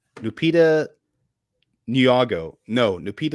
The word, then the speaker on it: Nyong'o: Because for me, just because, Brad, can you even begin to pronounce this actress's name? Lupita Nyong'o. No, Lupita Luago.